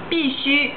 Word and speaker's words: 必须: 发音是一样，但是第一个必须是胡须的须，第二个是需要的须，所以是不一样的。